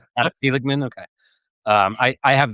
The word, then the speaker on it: Seligman: I think I'm pronouncing your last name right. That's right. Seligman, okay.